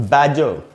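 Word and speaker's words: badger: या दूसरा वर्ड है दोस्तों बैजर। बैजर एक जानवर होता है और इसकी अगर स्पेलिंग को देखें तो यहाँ BADGR, बैजर, इसको भी दो सिलेबल्स में बांट सकते हैं।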